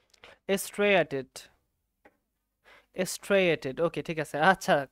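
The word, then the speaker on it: striated: অথবা একটা ইংলিশ নাম আছে, ইংলিশ নামটা পড়তে হবে স্ট্রেইনড মাসেল, স্ট্রেইটেড মাসেল। ও সরি, এটা স্ট্রেইটেড না, দুঃখিত। আমি পড়েছিলাম হচ্ছে তোমার, দাঁড়াও, এটার উচ্চারণটা আমি সঠিকভাবে বুঝতে পারতেছি না, আমি একটু ক্লিয়ার হয়ে নেই, বুঝতে পারছো?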